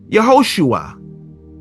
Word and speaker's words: Yehoshua: That right there, it makes oo sound. And then you have the ayin, or the ayin, which is silent, but it has the patach at the bottom. It makes a short A class sound, ah, if you will. Yeah, ho, shu, ah.